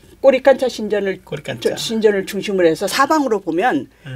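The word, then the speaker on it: Coricancha: 그래서 여기 꼬리칸차 신전을 중심으로 해서 여기 여기 코리칸차라고 썼는데 코리칸차. 뭐 꼬리깐짜라고 읽어야 돼요. 네. 이 꼬리깐짜 신전을 중심으로 해서 사방으로 보면 뭐 이렇게 산맥들이 있다는 거예요.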